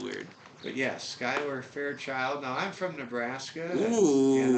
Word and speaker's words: Skyler Fairchild: it it is also spelled weird but yes Skyler Fair child now I'm from Nebraska and I will tell you we have a Skyler Nebraska Skyler Fairchild same way a member of the he goes